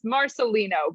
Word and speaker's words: Marcellino: You came closer than some people do, so like you got like halfway there. That's all that matters. It's Marcellino, but you came really close.